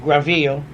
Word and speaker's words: Granville: the Atlantic coast that we had called Granville. Of course, the French pronounce it Graville.